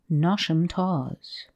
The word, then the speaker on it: Knotacentinum Towers: But the scene of this narrative is laid in the south of England, and takes place in and around Knotacentinum Towers, pronounced as if written Nosham Taws, the seat of Lord Knottacent, pronounced as if written Nosh.